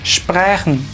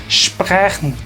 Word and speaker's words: sprechen: Entonces uno diría aquí share, y cuando la S le sigue una T o una P se utiliza ese mismo sonido sh. Entonces pronunciamos esto stehen, y esta se pronuncia sprechen, sprechen.